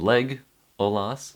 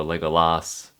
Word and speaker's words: Legolas: The emphasis is on leg, Olas, not Legolas or Legolas, it's Legolas.